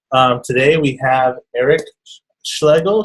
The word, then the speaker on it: Schlegel: I'm shling and I'm actually the person who can pronounce Eric's last name in the right way since it's German so it's called schal all right welcome to